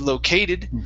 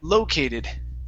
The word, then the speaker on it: located: word here is located the stress is at the very beginning instead of located it's located located okay all right very